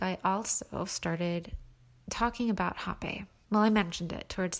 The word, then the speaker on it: Rapé: There's an accent over the E, and it's pronounced RapÉ, but I still hate how it's spelled.